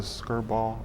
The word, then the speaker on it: Skirball: guess the first question is what is the skirt ball am I saying it right yes museum yes